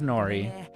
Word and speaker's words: Nori: tats his name is Nori I'm sorry I spilled water on this lady she serves you right for not paying attention it rhymes with Dory he is puppy boy